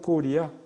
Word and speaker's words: 고려: 코리아를 한국말로 하면 고리야. 우리나라는 고구려도 고려로 이름을 바꾸고 장수할 때 왕건의 고려도 고려인데 그 발음은 고려가 아니에요. 고려는 리가 돼요. 고리.